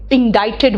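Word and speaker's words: indicted: बॉक्स का pick आया मैंने उसको इंडोट्रेड बोला इसका मतलब क्या है ये सी साइलेंट है और आई यहां पर आई नहीं आई का प्रनंसीएशन दे रहा है इंडोट्रेड है ना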